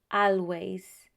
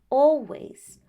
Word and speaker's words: always: In British English, when you find the letter A and L together, most of the times the pronunciation is that of all.